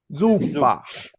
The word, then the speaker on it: zuppa: italiano no, supa no. Zuppa, zuppa.